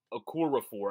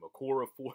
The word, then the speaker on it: Okorafor: Okafor had, Okorafor, I guess is how you say that, Okorafor, Chukwuma Okorafor, he's